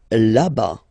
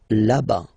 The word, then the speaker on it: là-bas: Là-bas, là-bas. Remember, final S not pronounced. Là-bas.